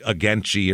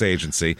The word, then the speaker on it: Agency: to look that up to make sure there wasn't some weird it wasn't like ageni or some some weird local pronunciation but it's agency it's in Southeastern Iowa